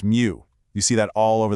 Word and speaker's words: mu: Then it gets really small with micro for a millionth and you'll notice that special Greek symbol mu which is pronounced mu.